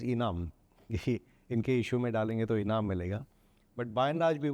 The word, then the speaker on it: Enam: which was NM on The initials of the founders got pronounced as enam but by and large